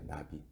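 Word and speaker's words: נביא: 선지자가 히브리어로 나비예요, 나비. 근데 우리가 아는 나비는 헐헐 날아다니는 나비만 생각하잖아요. 근데 발음이 똑같은 거예요.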